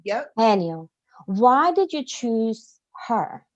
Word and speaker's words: Haniel: mention and you use Archangel hanel am I pronouncing her name correctly Haniel yep Haniel why did you choose her because Archangel hanel